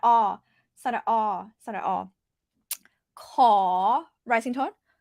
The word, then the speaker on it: ขอ: It's not cow. It's not core. I don't like using karaoke like English like KOR. Yeah, because a lot of times you might pronounce it as rhotic R, like American R.